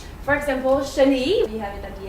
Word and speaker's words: chenille: For example, chenille, we have it at the end, chenille.